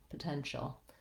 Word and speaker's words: potential: I go right from my SH into my dark L, shul. So I do have to have a little gliding vowel in between, but I want to keep it nice and light and short. Potential. That's actually how I say the word potential.